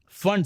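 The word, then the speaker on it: Pfund: फंड series P silent होता है।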